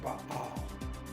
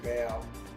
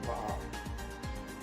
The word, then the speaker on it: Baal: This is the image of the god Baal. That's how I pronounce it. Some say Baal, Baal. I say Baal.